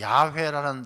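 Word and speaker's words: יהוה: 이 여호와라는 말은 원래 야훼라는 그 발음인데, 이 야훼, 하나님의 이름 야훼라는 뜻은 스스로 존재하는 자.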